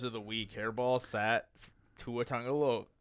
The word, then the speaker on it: Tua Tagovailoa: Hairball sat Tua Tagovailoa.